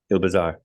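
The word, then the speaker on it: Île Bizard: have a podcast but it is on the Isle bizard yes IL bizar yep bizar is an island upon itself and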